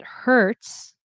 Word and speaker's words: hurts: If there is an H, we pronounce it. So, it hurts.